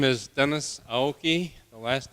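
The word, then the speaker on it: Aoki: opposed congratulations and a candidate for treasurer Dennis hyoki hello my name is Dennis AI the last name is spelled a o Ki I'm a transplant from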